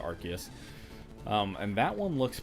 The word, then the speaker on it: Arceus: legends arceus coming out or rcs however you pronounce it i pronounce it arceus um and that one